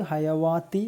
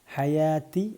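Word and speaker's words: حَيَاةِ: അൽ ഹയാത്തി അൽ ഹയാത്തി ഇവിടെ ഹയാ കഴിഞ്ഞിട്ട് ഒരു വാവ് ഇട്ടിട്ടുണ്ട് ഒരു അലിഫും ഉണ്ട് വാവിന് ഹർക്കത്തില്ല അലിഫ് ആണുള്ളത് അപ്പൊ അത് ഹയാവാത്തി എന്ന് പറയാൻ പറഞ്ഞു പോകാൻ ചാൻസ് ഉണ്ട് ശ്രദ്ധിക്കുക ഹയാത്തി ആണ് ഹയാവാത്തി അല്ല അൽ ഹയാത്തി ഈ വാവ് ജസ്റ്റ് നീട്ടുവാനുള്ളത് മാത്രമാണ് അൽ ഹയാത്തി അദുന്യ അദുന്യ കമാൻ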